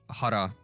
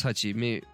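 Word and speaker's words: 八: I don't know why, but I read that as I read that as Hara. It was Hachi.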